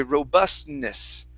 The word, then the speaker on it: robustness: robustness all right and so we actually think we're saying the t but we don't actually say that okay so when you guys see a word like that that has an n okay so it's like a t and an n you don't really have to say that t sound okay it's it's hidden inside the n okay um okay next